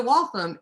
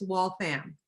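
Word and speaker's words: Waltham: Boston and I said we're going to walam and the taxi cab driver actually looked at me and said there isn't a town named walam but there is a wal fam and I literally wanted to smack them over the C the taxi seat I was just like you got to be kidding me so if you ever go there it's wall fam but it points out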